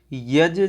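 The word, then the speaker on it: यज्: यज जीवस्योपकाराय। देखिए, यत नहीं कहना, यहाँ पे क्या पढ़ना? यज।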